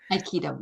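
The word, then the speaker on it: aikido: Trained for a decade in the martial art of, forgive me if I pronounce this wrong, Mary, you can correct me, I Iikido. Iikido.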